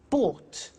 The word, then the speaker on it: bought: Buy, bought. You notice that O-U-G-H-T is pronounced ought.